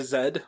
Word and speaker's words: Z: And I I think so a great example, Sarah Zed, which is pronounced it's the letter Z but pronounced zed cuz she's Canadian.